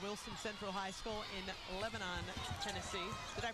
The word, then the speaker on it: Lebanon: Jasmine Hassel out of Wilson Central High School in Lebanon, Tennessee. Did I pronounce that right, Coach Pack? Lebanon is correct.